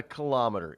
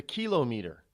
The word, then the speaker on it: kilometer: mispronounced words you know we call it kilometer well it's not a kilometer it's a kilo meter well everything else is